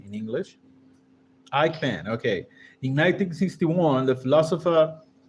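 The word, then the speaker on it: Eichmann: Let me take a look at how do you pronounce this German name in English. Ikeman.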